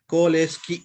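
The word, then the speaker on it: COALESCE: Koleski. Okay, how you need to remember this one means col plus escape keyword plus e. Okay.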